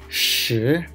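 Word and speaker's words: 十: Then shi, shi, there is rising tone, second tone. So we need to pronounce like shi, shi, shi.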